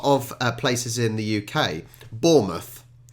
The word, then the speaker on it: Bournemouth: places in the UK Bournemouth and you hear the the Americans saying boar mouth it's almost over emphasizing it's almost creating two words from one um Hampshire I'm from